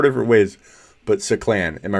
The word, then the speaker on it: Saclan: I've been calling him Sacklin. I'm embarrassed. Until he changes the pronunciation again. I feel like you've told us 4 different ways. But Saclan.